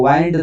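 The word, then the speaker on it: wind: meaning ಏನ ಅಂತ ಕೊಡ್ತದ ಇದು ವರ್ಬ್ ಆಗಿದೆ ಸೋ ವೈಂಡ್ the clock ವೈಂಡ್ ಅಂದ್ರೆ ತಿರುಗಿಸು ಅಂತ ಮೀನಿಂಗ್ ಕೊಡ್ತದ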